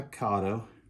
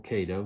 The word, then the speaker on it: Kato: This is made by Kato, or Kato, depends on how you pronounce it.